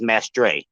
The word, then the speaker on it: Mestre: very uh egotistical uh the way we pronounce it is Mestre so yeah is there